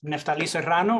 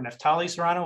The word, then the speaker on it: Naftali Serrano: quick intro for myself my name is naftali serrano or nathalie serrano whichever way you're able to stay if you can roll your r's have fun with it so i am the